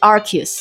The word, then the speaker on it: Arceus: La deuxième explication, c'est que en anglais, Arceus se prononce Archius.